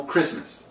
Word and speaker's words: Christmas: Christ there is no Christmas I know the tea is silent when you say Christmas right but how you spell it is c-h-r-i-s-t-m-a-s you can't have Christmas